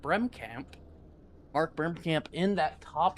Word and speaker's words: Bremkamp: So, starting in that pole position, the number 78 of Mark Bremkamp, I believe is how you say that, Bremkamp.